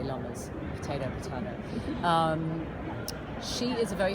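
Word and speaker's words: Lommers: Apparently it's pronounced Lomas. I say Lomas.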